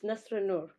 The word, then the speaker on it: Nasra Noor: lady on the line, I believe it's pronounced Nasra Noor, but if not, then I'm sure she's going to make it right. So I'd like to say good early afternoon to you, and how are you doing? Thank you so much for having me. You just said it right. Yes, it's Nasra Noor.